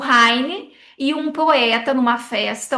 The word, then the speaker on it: Heine: Eu achei interessante porque o reine é Heine que se pronuncia Heine.